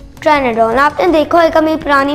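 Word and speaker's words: Pteranodon: और आपको पता है एक और, उसका नाम है ट्रेनाडोन। आपने देखा होगा मेरी पुरानी वीडियोस में, लेकिन आपको पता है उसका पी साइलेंट होता है, पी।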